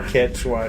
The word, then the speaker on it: Quechua: That's what Quichua said. Sure, Quechua, sure.